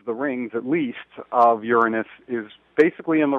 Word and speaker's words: Uranus: know I guess uh Uranus sounds a little bit less SC logical or something but that's what most people in the in the planetary astronomy Community pronounce it you know most people say Uranus and most people laugh